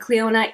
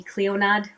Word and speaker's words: Clionadh: lot of videos, and Clionadh is with a D in it. So if I were to go phonetically, it would be Clionadh, which I was saying the wrong way, but it's Clionadh.